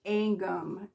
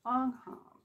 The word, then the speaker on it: Angham: Anam B lataa I keep wanting to say angum uh here in the South they would pronounce This angum I Swear but it's Anam so we know that this is supposed to